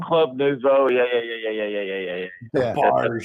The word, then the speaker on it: Club Nouveau: It's Club Nuevo or Nuvo. I don't even know how to say it. Nouveau. Oh, Club Nouveau.